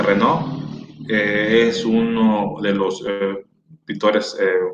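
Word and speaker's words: Renoir: que podemos decir reno se escribe reno ir pero creo que se pronuncia renault es uno de los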